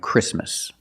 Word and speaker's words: Christmas: pure T intensive and when you see T between consonants it's silent don't pronounce a t if you link the sounds do not pronounce a t examples exactly and Christmas keep watching this video